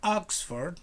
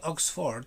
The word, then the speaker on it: Oxford: are no circles here oxford you um stress the word in the first celeb oxford not oxford please oxford circus oxford circus now